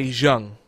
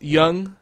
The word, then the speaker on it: Jung: Every time I read his name, I want to say Jung, but it's Jung. Yeah, but it's German, so that's why it sounds different. Yeah, no, I know it's Jung, but every time I